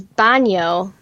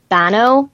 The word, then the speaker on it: baño: you tell me that the word is baño and that's how you say it I'm gonna try to mimic how you say it I'm not gonna say bono or B no I'm gonna say baño because that's how you it said it to me exactly that's out they